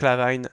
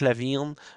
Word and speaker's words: LaVine: côté des des Bulls c'est Zac Lavine Lavine Lavine pardon Zac laavine faire attention aux prononciation